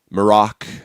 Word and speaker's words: Marrok: I'm so stoked it's got Marrok Tyler hope I pronounce that right.